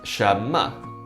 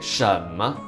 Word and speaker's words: 什么: So the first question word is 什么, or sometimes we can also say 什么, okay? This first character has two pronunciations with two tones. It can be the second tone or the third tone, doesn't matter.